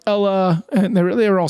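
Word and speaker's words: Eala: Like all the people I would have said Alexandra Ella and they're like there's the Y. Well, there's no Y. I know there's no Y, but like you're supposed to pronounce it like a Y.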